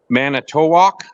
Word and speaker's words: Manitowoc: tell you now I'm going to an unprotected unpronounceable Town Manitowoc well I've been there Manitowoc i-t-o-w-o-c walk away banana walk many tow walk maybe it's too wild well that's a that's